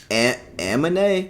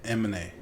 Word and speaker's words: Amine: Like you got what, Kamala, Amine? Why she do that? Why he do that? Amine. It's supposed to be like anime, but Amine.